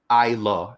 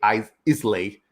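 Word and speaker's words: Islay: it's down there and isla is well it's pronounced i lo as as i said um a lot of people will say i is lay that's how you pronounce it it's isla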